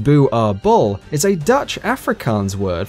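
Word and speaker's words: Boerboel: Boerbul, pronounced Boo-ar-bull, is a Dutch Afrikaans word for farmer's dog.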